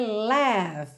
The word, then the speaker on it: laugh: Her laugh. Então, laugh, L-A-U-G-H, a risada em inglês, tem uma pronúncia muito simples, mas que não tem nada a ver com a escrita. Laugh, tá? Pensa mesmo em L-E-F, laugh.